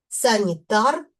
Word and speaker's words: санітар: Наприклад, санітар, санітара. В називному відмінку санітар наголос падає на суфікс ар.